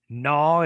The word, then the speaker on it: gnaw: Gnaw is an N, right? So the G and the N with consonant clusters. In this case, you can't pronounce both sounds.